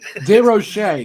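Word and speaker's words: DeRocher: when I'm not here Dave Dave Rocher did I say all right no no you guys are killing me man de Rocher correct yeah Roche yeah you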